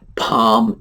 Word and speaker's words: palm: You do not pronounce the L. And there are a number of words like this. Palm is another one.